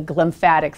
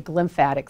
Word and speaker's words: glymphatic: there's something called the glymphatic system so I know you've heard of the lymphatic system and I'm not saying it wrong there's something called the glymphatic system and it's in